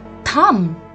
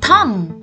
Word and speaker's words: thumb: call it it's your thumb in this word also the letter b remains silent we don't call it a thumb we call it a thumb the correct pronunciation to